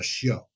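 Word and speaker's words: chiot: Like one of the things I said one time, there's a a puppy is called a show and it's spelled C H I O T E.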